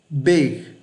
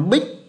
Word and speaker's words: big: Các bạn nghe cái âm g cuối nhé. Big. Big. Đó, âm g đấy các bạn đừng bỏ.